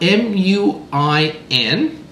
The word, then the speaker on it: Muin: You spell it M-U-I-N, but you can pronounce it M-O-O-I-N, Muin.